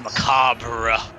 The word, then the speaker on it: macabre: I like how he says macabre so differently than everyone else. The other bosses say it right. He says macabre. Bruh. Yeah, you're not supposed to pronounce the R-E, right?